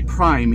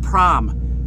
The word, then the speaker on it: Prime: something about prime wait if you don't work at Prime you say Prime you pronounce the letter I but I think part